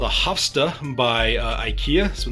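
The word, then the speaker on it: Havsta: Is a display cabinet called a Hofsta by IKEA.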